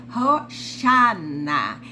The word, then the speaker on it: Hosana: o significado no Novo Testamento dessa palavra a pronúncia é Rosana eh Essa é a pronúncia em hebraico e